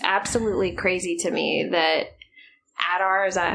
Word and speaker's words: Adar: Just for one thing, he survived all of those orcs, and I that was just absolutely crazy to me that Adar, is that how you pronounce his name?